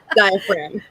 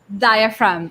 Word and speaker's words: diaphragm: diaphragm diagram so yeah that g is useless in there forget about it diaphragm diaphragm okay so yeah the